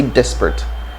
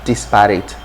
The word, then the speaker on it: desperate: thing you're talking about just make sure you say desperate not disparate because simply say disparate or desperate okay two or three syllables right desperate or desperate and you're okay all right so we'll